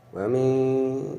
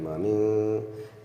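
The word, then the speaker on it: وَمِنْ: Kemudian berikutnya wa min, ini juga ini juga ikhfa sehingga dibacanya bukan wamin tapi mami mendengung, ini namanya ikhfa syafawi.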